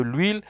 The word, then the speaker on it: huile: De l'huile. You will see there that H is considered muet. Remember what is muet? I told you muet is silent.